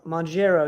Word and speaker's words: Mounjaro: Mounjaro is how we pronounce it.